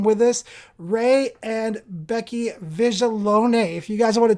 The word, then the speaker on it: Viglione: alone right big leon big leon that's right it's actually pronounced how it looks like it should be pronounced without putting the italian thought behind it i think right or